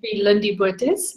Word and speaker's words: Lindie Botes: name is it sis with an Afrikaans pronunciation Lindy bootys little town and I